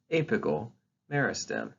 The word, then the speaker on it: apical meristem: the soil but that's the apical meristem it's pronounced apical meristem all right so what are the organs of